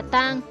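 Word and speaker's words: 桑: Nguyên nhân là bởi trong tiếng Hán, cây dâu đọc là tang, cùng âm với tang ma, tang tóc, có liên quan đến chết chóc bất hạnh, không mang lại may mắn.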